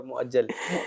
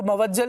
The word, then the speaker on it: مؤجل: آتا ہے، معجل اور مؤجل. معجل اور مؤجل. اچھا، لوگ اس کو موجل بھی کہہ رہے ہوتے ہیں، موجل.